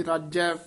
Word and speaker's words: राज: नहीं को राज य राज कस के उच्चारण करना सुपन मनोरथ बथे सब